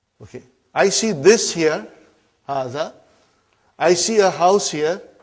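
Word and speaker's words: هذا: Haza see it is pronounced like ha. Huh? But this al if is not written. Huh? It is explained in the key also. So it is haz.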